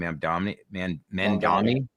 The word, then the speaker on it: Mamdani: New York, saw the debate with Cuomo and how do I pronounce the gentleman's name? Mamdani.